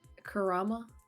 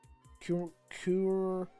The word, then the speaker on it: Kurama: said I think you said Naruto's um beast's name wrong isn't it Kurama Kur I'll say Kuma Kurama isn't that Kurama it's the ninetail fox see